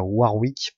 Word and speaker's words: Warwick: main normalement c'est Warwick, enfin Warwick pour ceux qui préfèrent la vraie prononciation. Moi je préfère Warwick, c'est plus facile à dire.